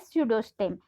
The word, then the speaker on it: pseudostem: a false stem or pseudostem. Here P is silent in this word, so you are going to read this word as pseudostem.